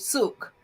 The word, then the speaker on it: Sook: Sook. That's the sook. Yeah, that's right. Yeah, yes. Rhymes with took, as in I took something from the Lego shop.